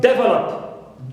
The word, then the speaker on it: develop: Va is stressed. Why? Because the third syllable does not contain a long vowel or diphthong or vowel plus more than consonant, but it contains only short vowel plus one consonant in this case, which is o and pa. That's why we stress second syllable here.